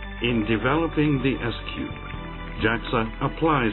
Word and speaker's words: S3TD: weight reduction Technologies our acronym for this silent supersonic technology demonstrator is written S3 TD which we call SQ for short in developing the S Cube Jackson applies its Leading